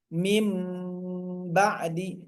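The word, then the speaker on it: مِنْ بَعْدِ: Mim ba'di. Mim tahan dulu mimnya ya. Mim ba'di ditulisnya min harus dibacanya pakai huruf M bukan N ya. Pakai huruf M bukan huruf N.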